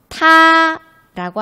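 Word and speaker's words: 她: 있고 그녀도 있는 거죠 타라고 합니다 둘이 인데요 4 둘다 병음 타로 읽습니다 발음이 똑같아요 그런데 한자는 이렇게 조금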